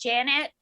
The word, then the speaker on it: Janet: So it's actually, my name's pronounced Janet, and my mom would want me to correct that.